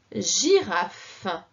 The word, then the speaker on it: girafe: Girafe. Donc je te rappelle que la lettre G suivie du I fait bien le son J et que nous n'avons pas besoin de rajouter de E muet.